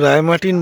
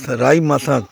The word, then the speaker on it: Raimatang: এই জায়গাটাকে সব রায়মার্টিন বলে, বাট এটা রায়মাথাং অ্যাকচুয়াল প্রোনাউন্সিয়েশন।